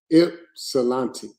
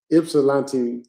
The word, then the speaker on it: Ypsilanti: Hey, look, I want to tell y'all how to pronounce Ypsilanti. There you go, Ypsilanti Township, Michigan. That's how you pronounce it. Ypsilanti. Okay. Ypsilanti.